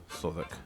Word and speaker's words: Southwark: Sodic. It's like It's like Southwell. It's It's Sod. How do you spell it?